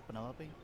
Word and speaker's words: Penelope: any pleasure is that short for Penelope officially yes but I never can be bothered with all four syllables of it finel sounds